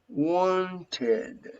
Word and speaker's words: wanted: and you pronounce wanted wanted in this case you have to pronounce this eddie like ed because you have the final t whenever you have a